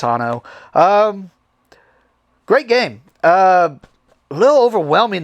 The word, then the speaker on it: Anno 1800: I've been comparing it to Uno a lot lately, but we always make fun of it and say it wrong. Anno 1800. We always say Anno. I know it's not. It's Anno.